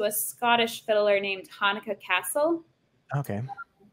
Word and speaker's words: Cassel: And let's see, I also listen to a Scottish fiddler named Hanukkah Castle. Okay. Her last name is spelled like Cassell, but I'm pretty sure it's pronounced Castle. Sweet.